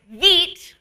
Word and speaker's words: Vite: Okay, so that was the first time I ever discovered VET, which is not how I pronounced it in the video because I didn't know that that's how you actually pronounced it then.